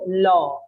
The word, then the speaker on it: law: um also for you law i want you to listen to the pronunciation of law it has an or sound so it's not written